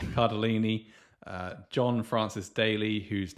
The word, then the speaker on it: Cardellini: Cardolini. Cardellini.